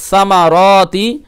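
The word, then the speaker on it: الثمرات: মিনাস সামারাতি মিনাস সামারাতি এই যে সা এর উচ্চারণটা করবেন ঠিক আছে নুন সা জবর নাস সা এর মাখরাজ হচ্ছে জিহ্বার আগা উপরে দাঁতের আগাই লাগিয়ে সা মিনাস সামারাতি রিজাল্লাকুম হ্যাঁ রিজ র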